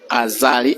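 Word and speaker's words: Azali: years in succession his full name is actually aali as in a z a l i his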